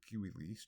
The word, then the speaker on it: civilis: Civis, or Kiwis, is citizen. And civilis, or Kiwilis, depending on how you pronounce it, classical or medieval pronunciation, is civil.